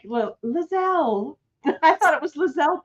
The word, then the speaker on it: Lisel: So remember, Lisel Diesel, Lisel Diesel, Lisel That's Diesel, right. okay? You guys, As long and as you don't call me Lisa.